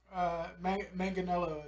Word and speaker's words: Manganiello: I mean, Manganiello is how it's pronounced. That's how he pronounces it anyway.